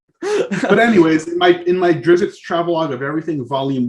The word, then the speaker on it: Drizzt: Oh yeah, tell me about it, because in my upcoming book coming out in December, Drizzt's Travelogue of Everything. I'm mispronouncing Drizzt.